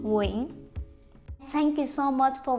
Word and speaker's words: Nguyễn: It looks like it has 2 syllables, but I pronounce it with just one, Nguyễn.